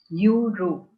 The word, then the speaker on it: euro: Okay, the next word here is euro. E-U-R-O, euro. So the first letter here is E. Correct? But the sound of E here is that of U. Y-O-U-U. Euro.